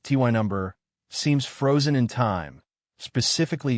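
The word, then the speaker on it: Tyneham: Tinum pronounced ty number seems frozen in time specifically 1943.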